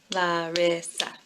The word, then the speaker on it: Larissa: sounds and uh and my name Larissa has three bowel sounds laughs I read it Larissa three syllables and when you're thinking